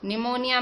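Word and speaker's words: pneumonia: निमोनिया में P silent होता है, पर आगे जाके उसके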